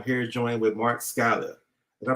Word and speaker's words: Skala: and today i'm here to join with mark scala did i pronounce it correct mark yeah scholar perfect so how you doing today mark i'm